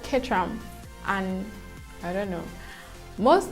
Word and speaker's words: Caterham: currently they call it ketranham kid tram not caterham so i've been pronouncing that wrongly guys i've been pronouncing it so wrongly so it's called ketram and i don't know most of most of